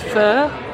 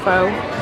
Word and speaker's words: pho: And I got I think you pronounce it properly as pho, but faux toppings.